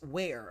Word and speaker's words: Ware: mark on that one big band says Chris wear okay so I think I had it pronounced correctly Chris wear Chris SAR Chris SAR